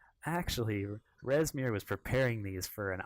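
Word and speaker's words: Rezmir: He's like, actually, Resmir was preparing these for an omelet, and so we're gonna go prepare them for.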